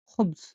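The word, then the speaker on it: خبز: খা বা খ, এটা গলা দিয়ে বের করতে হবে। খ, খ। উচ্চারণ দেখুন রুটি, রুটিকে বলা হয় খুবজ, খুবজ, খুবজ মানে রুটি। আরবিতে খুবস মানে রুটি, তাহলে রুটিকে বলা হয় খুবস, গলা দিয়ে বের করতে হবে খুবস।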